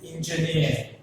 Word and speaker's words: engineer: Engineer has three syllables again. The stress falls on the last syllable, near. What are the syllables are there? Engineer. The stress falls on the near.